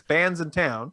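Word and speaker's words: Bandsintown: it says it sure looks like you should pronounce it some other way but it is bands in town yeah a branson downtown plus is being is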